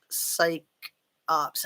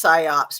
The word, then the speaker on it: psyops: because they are all psych ops. I know it's psyops, but I like to say psych ops, if you don't mind me mispronouncing.